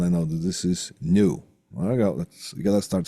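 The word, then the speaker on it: nu: it comes to light it's a Greek symbol that's called new like the new I got new car you know new and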